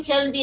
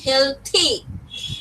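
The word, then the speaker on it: healthy: আমরা বলি হেলদি, এটা কিন্তু হেলদি না, এটা হচ্ছে হেলথি।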